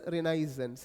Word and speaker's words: Renaissance: called as Renaissance period period okay the correct pronunciation of this word is renisance renisance okay renisance r e n i a